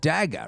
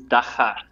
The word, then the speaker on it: dagga: you guys call it dagger right is that is that what you call it dagger the pronunciation is da ha so it's cleaning up the yo you're clearing your throat on the G right ok yeah yeah